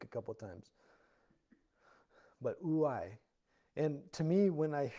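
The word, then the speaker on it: οὐαί: The word in Greek is ouai. Ouai. That's how it's pronounced. And I had to listen to a guy saying it in Greek a couple of times. But ouai.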